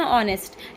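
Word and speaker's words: honest: जैसे कि इंग्लिश में लिखते हैं हॉनेस्ट, पढ़ते हैं ऑनेस्ट, एच साइलेंट हो जाता है।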